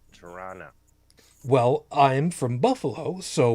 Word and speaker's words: Toronto: just to prepare you, locally it's pronounced Tirana.